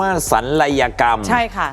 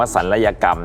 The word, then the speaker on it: ศัลยกรรม: นั่น เอง ค่ะ อ๋อ อัน นี้ ต้อง เรียก ว่า สัยกรรม นะ ฮะ คุณ ผู้ ชม จริง ๆ แล้ว ต้อง ออก เสียง ว่า ศัลยกรรม นะ ฮะ แต่ ด้วย ความ สะดวก